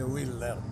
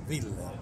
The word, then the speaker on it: Willer: Ancora oggi lo confesso, leggo tutti i mesi Tex Willer, che non si dice Willer, ma si dice Willer, come si dice una volta, e quello lo leggo, è l'ultimo aggancio.